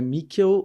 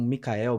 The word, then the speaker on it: Mikkel: começar apresentando então né meu nome é mikel ou Mel tanto faz a pronúncia Mel n e eu costumo brincar que e as pessoas trans TM desafios na vida um dos poucos privilégios que a gente tem a escolher o nome eu resolvi escolher um que dificulta minha vida entendeu então por isso que eu já começo explicando como que pronuncia mas às vezes S um Micael Michael tal sei vamos embora É